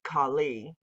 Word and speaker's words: Kali: slaying of the masculine which is actually usually pronounced kali but i'm saying cali because we call california cali but she's almost always